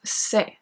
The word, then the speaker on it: sais: For the singular one, we are going to have the stem S-A-I, pronounced c'est.